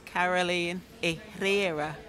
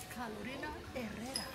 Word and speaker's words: Carolina Herrera: Is Caroline Herrera. I'm not sure I pronounce it correctly. These are the set they have. I like this one. Wow. Carolina Herrera. Yes, thank you for pronouncing it for me.